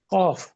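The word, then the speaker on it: ق: এর নাম হলো কফ, উচ্চারণ হলো ক। যদি জিজ্ঞেস করি কোথা হতে, মানে উচ্চারণের স্থল, জিহ্বার গোড়াটা তার বরাবর উপরে তালুর সঙ্গে লাগিয়ে। যদি জিজ্ঞেস করি অবস্থা তো আগের মতোই, কিভাবে? উত্তর হবে জিহ্বার গোড়া তালুর সঙ্গে লেগে মোটা এবং ঊর্ধ্বমুখী কলকলা করে উচ্চারণ করতে হবে, অর্থাৎ মোটা এবং ঊর্ধ্বমুখী কলকলা।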